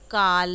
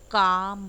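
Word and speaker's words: calm: Okay, फिर आपका L silent होता है, काम। आप देखिए काल नहीं बोलते हो, आप काम बोलते हो यानी कि बहुत ही शांत।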